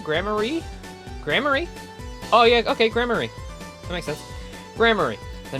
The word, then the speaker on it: Gramarye: don't tell me you don't know about Troop Gramere. Gramarye? Oh, wait. Is that how you say it? Gramarye? Alright, well, I'll say it like that, then.